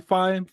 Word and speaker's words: Fifine: How do you pronounce that name? Um, Fifine. Is that Fine? Fifine.